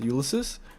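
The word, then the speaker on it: Ulysses: Hill locks Mills Elmore Harrison USIS or ulses ulysis that's how you say it and uh Harrison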